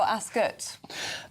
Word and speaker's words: Ascot: I've covered it for a few years now for GB News and they they tell you straight up it's Askot, spelled with the U.